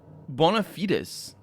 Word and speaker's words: bona fide: that's my what now bonafides i know it's bona fide pronounced bonafide in english even though i'm pretty sure it shouldn't be because it's two words in latin and it's used as